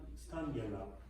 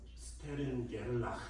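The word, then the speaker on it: Stern–Gerlach: 그리고 저번 시간에 보겠지만 스탄 게를락 게를락인가 독일어로 발음을 해야 됩니다. 스테른 게를락 실험을 통해서 뭘 한 거냐면 은을 끓여요.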